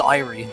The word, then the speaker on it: eerie: Also, I thought it was Irie, but it just Is it Eerie? Okay, I thought it was Eerie. You know what? I'm just gonna look that up real quick. Turns out both pronunciations are listed in this dictionary here.